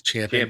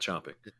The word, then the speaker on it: champing: to say that right it is champing Ching it's champing that's correct not chomping it's very important that